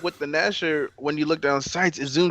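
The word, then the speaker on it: Gnasher: Now, the shotgun is a zoom in here and there, but it's the Ganasher is basically made to be kind of blind fired. He said Ganasher. Yeah, that G is silent.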